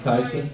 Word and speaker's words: Thijsse: I should pronounce it Thijsse.